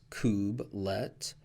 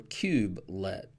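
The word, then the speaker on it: kubelet: have actually two options so the couplet you can pronounce as Kubb let or cube let you have two options so pick the first part of the the word how you want to pronounce it and you have again couplet and cubelet either equally correct and when we talk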